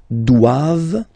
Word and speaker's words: doivent: And then the last one, ils doivent, so same thing, classic ending for the plural form, ENT here, okay, but then you don't pronounce it.